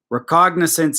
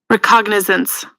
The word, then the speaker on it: recognizance: Appalachian out here too recognizance it is pronounced with the G you are correct seared again let's hear it is recognizance I thought the G